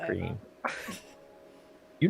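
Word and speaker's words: Greene: Green. You know what I scream about. You scream, and we all scream. It's spelled a little differently. It's got an E on the end of green.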